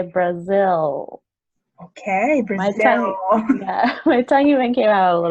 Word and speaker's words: Brazil: But you just want to think about where your tongue hits your teeth, and that's the L that you want to make.